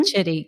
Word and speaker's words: Chidi: And guys, the founder of Loom, Erica, please pronounce, is it Chidi? Is that how you say her last name? Mm-hmm. Chidi, yes.